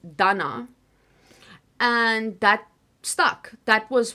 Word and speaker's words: Dana: But even Donna is not always how my name comes out because some people pronounce it kind of like Donna. Other people say Dana, like especially to the African side of things.